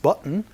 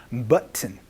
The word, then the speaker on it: button: What is this button for? 이렇게 물어보시면 되겠습니다. 여기에서의 버튼이라는 발음은요. button 이렇게 얘기를 하거나 혹은 button 해서 은소리로 바뀔 수도 있으니까 요거 조금 주의해 주시면서 연습 한번 해보도록 하겠습니다.